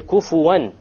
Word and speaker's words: كُفُوًا: And the last point here, kufuwan. How did we pronounce the noon there? Clear.